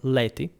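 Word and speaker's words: laeti: was the technical term, leti. I'm pronouncing it the ecclesiastical way because, in any case, for late antiquity, that should be conventional, at least the way we called them.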